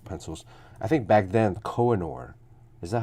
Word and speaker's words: Koh-i-Noor: I think back then Koh-i-Noor, is that how you pronounce it? Koh-i-Noor? Yeah, Koh-i-Noor.